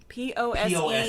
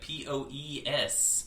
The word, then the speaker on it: Pose: POSE, you know, like strike the pose. Oh, I thought you were saying like pose, like POES, like Pose Tavern.